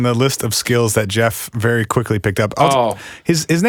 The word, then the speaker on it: Gef: I saw a couple different stories where they said pronunciation at the time of a G starting name would be like a G sound instead of a J sound.